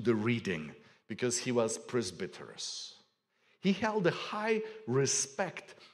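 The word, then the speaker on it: πρεσβύτερος: It's the word, and I'm going to pronounce it in Greek because you'll recognize the significance of that word. It's the word presbyteros.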